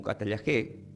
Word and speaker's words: katallagé: Reconciliación del griego primeramente que se pronuncia como catalla G, que es la cada kilo, la a, la t, la a, a, g e, catalla g con acento en la e.